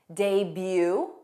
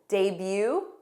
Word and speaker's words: debut: There are also common French-derived words that we use in English where the T at the end is silent. For example, ballet, a ballet, buffet, bouquet, debut, bu, debut, gourmet.